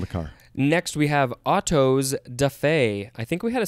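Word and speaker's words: autos-da-fé: picture yeah from the car next we have otto's defey i think we had a similar one yeah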